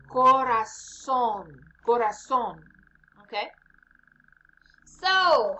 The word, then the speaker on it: corazón: El corazón means heart. Pay attention to the pronunciation there. Z sounds like S in this case. Corazón.